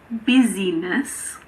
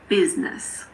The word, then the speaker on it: business: The main exception is in the word business. It's not busyness, it's business.